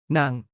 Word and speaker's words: นาง: นาง นาง นาง นางสาว Non rhymes with sung and saw like cow with an S.